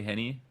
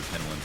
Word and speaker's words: N1: I wanted to say Henny. We all wanted to say Henny. It's N1. Apparently, it's N1.